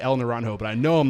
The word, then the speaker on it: El Naranjo: Then in 2012, El Naranjo, I want to say El Naranjo, but I know I'm not saying it right.